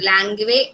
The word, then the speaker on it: langue: These are briefly the ideas of Saussure on language, and also he has differentiated between langue and parole. Lang and parole, Langue, we write, this is pronounced as lang, and parole.